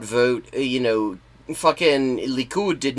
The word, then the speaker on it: Likud: Likud. Christ, have you even just watched regular-ass news sometime? Because they pronounce it correctly, more or less.